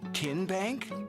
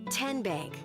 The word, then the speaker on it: TN Bank: How do you say the name TN Bank? Nope. Tin Bank. Uh-uh. So, what is it? Tenbank. 10 as in Tennessee.